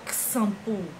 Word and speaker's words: xampu: com som de s é shampoo ou xampu xampu x com som de ch é exodo ou a